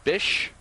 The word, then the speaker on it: Bish: is the ball outside they've been calling him Vick on the uh PA announcer but I've been informed that it's pronounced Bish so Howard Tak the strike